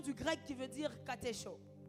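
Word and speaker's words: κατέχω: grec qui veut dire Katcho Katcho qui s'écrit comme K a T e C H o retenir veut tout simplement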